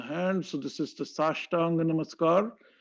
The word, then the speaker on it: Sashtanga: So this is the Sashtanga Namaskar. Sa Ashta Anga. That's the way to pronounce Sashtang.